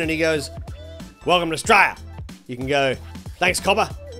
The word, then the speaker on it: Australia: So we don't say Australia, we say Straya. Pretty much just one syllable, we'll do it.